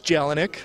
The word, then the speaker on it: Jelenic: thing we always say how do you pronounce your last name I go it's Jelinek so chilling everybody pronounces a difference I'm used to it